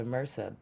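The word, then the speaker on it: MRSA: Inga she got the mersa bacteria during surgery so and let people know what Mercer just in case they don't know Marissa which is spelled mrs a is a bacterial it's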